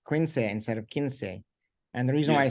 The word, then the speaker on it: Quince: the in the 70s there was a cartoon strip in the Philippines uh spelled the same way but we pronounce it Quince oh wow interesting that's